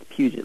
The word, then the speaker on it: Puget: Puget. Like Puget Sound.